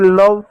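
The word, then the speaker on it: love: एल का ल पढ़ेंगे। ओ को अ पढ़ेंगे तो अ की कोई मात्रा नहीं होती। वी को व पढ़ेंगे। इ साइलेंट होता है। इसको पढ़ेंगे लव।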